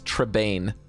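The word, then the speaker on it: Trebaine: It's an A-I, so it's Trebane.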